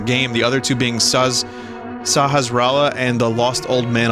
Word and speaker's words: Sahasrala: Vinny, it's not Sasrahala. How do you say it, then? Tell me how to say it. Say it out loud in the chat. It's Sahasrala.